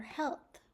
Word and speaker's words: health: We have an A in heal. Why do we keep that A for health? Why don't we just spell it H-E-L-T-H like it sounds? Because health is related to heal.